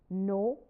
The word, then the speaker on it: know: In 16th century, the letter K was sounded in no, now it is silent. No, knife, knowledge, etc.